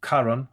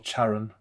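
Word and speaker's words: Charon: you were 30 so his name is Karan of course which is or cheran I suppose as an alternative pronunciation and of course that's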